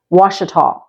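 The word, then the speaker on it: Ouachita: parish is spelled like this this and it's pronounced wasal one of the highlights in wasal Parish is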